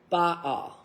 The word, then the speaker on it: Baal: First, we have King Baal. That's actually Baal.